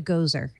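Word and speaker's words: Gose: although I'll tell you this is how I always pronounce it it's a goeser spell GOC I call it a Gozer um I've heard some people call it go uh what it is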